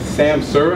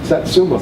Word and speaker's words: Satsuma: Okay, and there's also a variety, I may be pronouncing the name wrong, but it's Samsur, I think? Satsuma. Satsuma, yes.